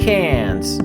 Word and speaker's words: Cairns: The next day, we were in Cairns. I think I'm saying that right. Why don't we pronounce the R?